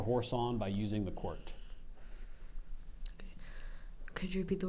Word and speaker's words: quirt: m e p h i t e i quirt it means a riding whip used especially in